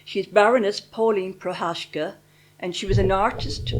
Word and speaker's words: Procházka: I have a different pronunciation for Prohashka I'm calling her. She's Baroness Pauline Prohashka and she was an